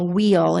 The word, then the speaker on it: WHIL: And then there's another source called Wheel. It's spelled WHIL, and they offer both mindfulness and yoga on an app.